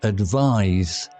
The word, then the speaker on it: advise: Note the difference between the noun advice, pronounced with an S sound, and the verb advise, pronounced with a Z or Z sound.